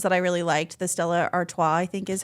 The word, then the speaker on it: Stella Artois: The Stella Artois, I think is how you say that.